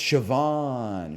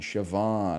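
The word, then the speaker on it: Siobhan: second nature to me it's sioban shoban okay shoban thank you thank you guess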